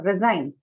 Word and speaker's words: resign: Now resign. Resign. Resign. Where did it go? Okay. Resign is what? Verb. Adjective, noun, what? Verb. Verb. So stress on Second syllable. second syllable. Yeah, yes.